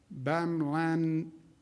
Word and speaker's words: bamlanivimab: Additional good news, FDA has allocated 4,600 doses of the therapeutic bamlanivimab. How do you pronounce that, doctor?